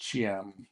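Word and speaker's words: Thiam: It's actually spelled T H I A M, but it's pronounced Cham, like CH, uh, versus Richmond Housing Partnership.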